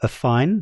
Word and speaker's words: AFFiNE: And a fine, by the way, is how it is pronounced. I've looked, they've got a phonetic spelling on their project page. So, a fine, that is how you pronounce this.